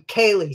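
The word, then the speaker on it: ceilidh: I mean, Kaylee, C-E-I-L-E-I-D-H, honest. They make it opaque on purpose.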